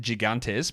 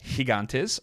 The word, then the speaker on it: Gigantes: is it game time I was informed that I was mispronouncing that uh choca D I said gigantes but apparently it's choca de higantes I still don't is that true higantes I guess so yeah I guess it is higantes yeah Cho de higantes